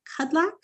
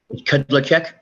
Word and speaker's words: Kudlacek: Before we get too far in depth, is it Kudlak? How do you say your name, sir? Kudlacek. Kudlacek. Okay.